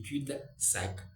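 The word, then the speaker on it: cul-de-sac: c'est la plaine du cul de sac les ailes ne se prononcent pas qui termine cul elle qui termine cu ne se prononce pas au lieu de la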